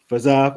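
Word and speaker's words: Fiziev: So co-main event, Reid, you got Justin Gaethje going against is it Faziev? Am I pronouncing that right? Yeah. Faziev.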